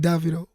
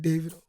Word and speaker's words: Davido: Like, in the southern part of Africa, they be like Davido. Mm-hmm. But, like, in the western part, it's like Davido. So, Davido. My real name's David. Okay. So, yeah. It's Davido.